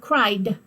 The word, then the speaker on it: cried: correctly chatted ad sound cried hard D sound you don't hear the e so Chad ed you